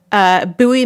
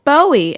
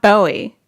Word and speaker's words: Bowie: it's spelled like Bowie it's spelled like Bowie, as in David Bowie. So whenever someone is not from Maryland and they come and they see the sign for Bowie, they go, oh, Bowie. And I'm like, dude, it's not Bowie.